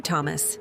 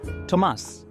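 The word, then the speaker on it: Tomás: How do you do, Thomas? Tomas. The emphasis is on the A.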